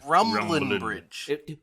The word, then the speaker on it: Rumbling Bridge: guys bye it's not pronounced rumbling there's no g in the station rumbling bridge rambling rumbling it feels